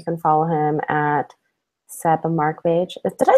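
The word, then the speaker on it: Markbåge: I kind of Americanized it since I moved here. The correct pronunciation is Markbage.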